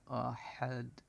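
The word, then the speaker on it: أَحَد: থেকে উচ্চারণ হবে আহাদ এটা ছোট হাজি হা নরমভাবে হা এভাবে উচ্চারণ হবে হা পেশ হু আরেকটা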